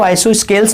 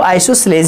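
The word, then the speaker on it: isosceles: तो बच्चों इसका प्रोनाउंसिएशन थोड़ा अलग अलग होता है। कुछ बच्चे इसको आइसोस्केल्स पढ़ते हैं और कुछ बच्चे आइसोसेलेस पढ़ते हैं। तो एक्चुअली जो इसका प्रोनाउंसिएशन होता है वो आइसोसेलेस ही होता है।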